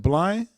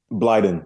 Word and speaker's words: Blyden: How you pronounce it? Is it Blind? Blyden.